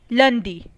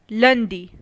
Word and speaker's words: lundi: to French calendar so Monday in French is pronounced as lundi lundi Tuesday in French is pronounced as mark the